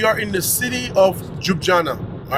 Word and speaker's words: Ljubljana: You know, we are in the city of Ljubljana. All right, you know, it's spelled very differently. Ljubljana, Ljubljana.